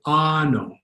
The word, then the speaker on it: ano: A, for example, is always pronounced like the A in croissant. Ah. Always pronounced ah. So the Tagalog word on the far side, how would that be pronounced? That would be pronounced ano.